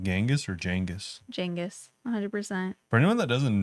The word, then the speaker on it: Genghis: Jengis, 100%. For anyone that doesn't know, apparently the way Genghis Khan's name was actually pronounced is Jengis.